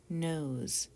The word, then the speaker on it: nose: oh rope next word nose my nose got red in the sun oh two o'clock up and around nose do you hear the z sound and what do we